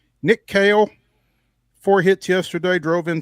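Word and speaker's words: Kahle: tried to reach out to Doug Scopel earlier today um to get a pronunciation on Nick Kale, which is spelled K A H L E. He he hit me back. Kale like like the vegetable, but um could not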